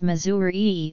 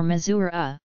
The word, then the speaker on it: Missouri: greater number of listeners often informal Ries pelling z' of the state's name such as Missouri or mizura are used informally to phonetically distinguish pronunciations there is no